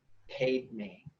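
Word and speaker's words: padme: way to pronounce it Padma is spelled PA DME but I was told to pronounce it paid me and mmm which is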